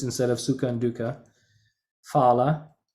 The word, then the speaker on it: phala: Phala, it's not phala. In Sanskrit, ph is pronounced pa, not fa.